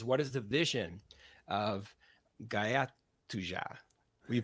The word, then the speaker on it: Gaja To Ja: to you is what is the vision of guyot 2ja we pronounce it well it's it's a Polish it's